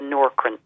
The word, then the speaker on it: Nourkrin: I think if it's falling out and thinning on the scalp, the best one is the Norcrin. It's spelled Nourkrin.